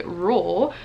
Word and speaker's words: Reuel: I would have never thought to name somebody Reuel, but it's not R-O-O-L, although it's kind of pronounced like that.